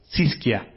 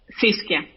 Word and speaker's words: Xiskya: ¿Cómo se dice tu nombre? No quiero andarlo diciendo mal. Siskia. Siskia. Ok, Siskia. ¿Sí? ¿Estoy Siskia. bien? Sí, perfecto.